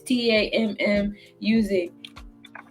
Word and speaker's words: Tammuz: So then she had a baby, and her baby was Tammuz. I don't know. I know I butchered that. It's Tammuz.